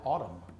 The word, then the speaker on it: autumn: Found in the word autumn. Spencer? N. That's right.